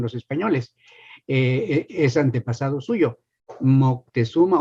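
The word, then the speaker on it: Motecuhzoma: españoles es antepasado suyo Moctezuma o motecusoma que es la palabra la pronunciación correcta en la lengua mexicana de ese nombre por cierto hago un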